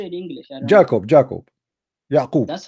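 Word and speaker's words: يعقوب: Yaqub.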